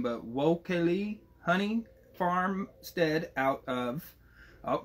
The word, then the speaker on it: Wao-Kele: How do we pronounce the name of your honey farmstead, my man? Wao-Kele honey.